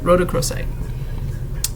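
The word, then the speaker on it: rhodochrosite: lizard okay Road yeah Roc crite I'm probably still saying it wrong r h o d o c HR oite rooc crite Roc crite that's what it is and its uses are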